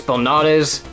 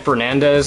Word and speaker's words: Belnades: It's Belnades, and then they said Fernandez, and then Velnumdes. It's like, Jesus Christ, how many times are you gonna mispronounce that name?